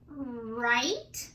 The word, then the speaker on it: right: Number 2 was right. Remember, there were some silent letters in that word too.